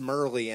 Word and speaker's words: Mehrle: like look at it there's a silent h in there like it's German I I don't expect